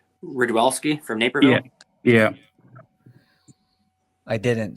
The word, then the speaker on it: Rydwelski: Where'd you put Rudwilski? Am I pronouncing that right? Ridwelski from Naperville. Yeah. I didn't, so that's a Okay. good one. Rouse, where's he at? Ridwelski. Rydwelski.